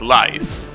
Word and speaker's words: lice: No, I suppose it's lice, right? Like ice, but with an L in front of it.